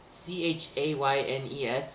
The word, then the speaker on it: Chaynes: I don't speak French, but his last name is Chaynes, and it's pronounced like Chen.